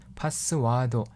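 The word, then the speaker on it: パスワード: 거예요 파스 와도 입니다 파스 와도 이와 를 길게 발음 한다는거 알아 2시고요 파스 와도 키키 다시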